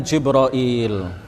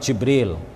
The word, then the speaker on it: Jibril: bisa juga kita mengatakan jibroil ya bisa juga kita mengatakan jabril atau Jibril atau jibroil atau ada ada juga